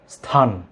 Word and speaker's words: স্থান: আঞ্চলিকতার কারণে অনেকে এটিকে এ এবং রস্যই নিয়ে আসেন, যেটি অত্যন্ত শ্রুতিকটু দেখায়। কোনো একটা অনুষ্ঠানে বক্তব্য রাখলে কিন্তু খুবই শ্রুতিকটু দেখায় এই উচ্চারণগুলো। আমরা কখনোই ই এবং এ আনবো না, আমরা সরাসরি একটু প্র্যাকটিস করব।